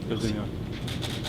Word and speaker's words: Oezdemir: Puis comment vous prononcez votre nom de famille? Oezdemir.